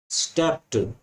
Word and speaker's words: stepped: As soon as I stepped out, stepped, STEPPED, ये जो ईडी लगती है ये टा बोलते हैं इसे, कुछों के सामने बाद में ईडी लगती है तो टा बन जाती है। स्टेप्ड, स्टेप्ड, इसको ये प्रोनाउंसिएशन है, स्टेप्ड, डा साउंड नहीं है, डा नहीं है।